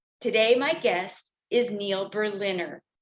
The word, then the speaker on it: Berliner: Neil Berliner. Today, my guest is Neil Berliner, pronounced like the city, Berlin plus Longtime comedy writer, stand-up, and joke writing teacher.